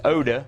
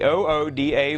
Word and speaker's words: OODA: called the ooda loop i could try to pronounce it as oda but that wouldn't make much sense so let's just stick with the ooda loop the first o is